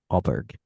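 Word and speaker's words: Åberg: say his name right ludig auberg o a ber o I think it is there's no G it's it's it's feedish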